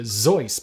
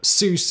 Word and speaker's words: Seuss: on from there dr seuss should actually be pronounced dr zoice but theodore geisel got tired of correcting people so we now also dr seuss instead of how he dr seuss or zoys